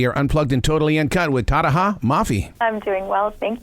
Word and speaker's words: Tahereh: them how to say my name, which is Tahereh, by the way.